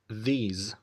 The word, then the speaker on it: these: These days، وخد بالك من نطق كلمة these، ما بنقولش these، لا بنقولها z. These Your friends now؟